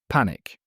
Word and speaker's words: panic: sounds from today's stories panic panic stress on first part relief relief stress on second part grateful.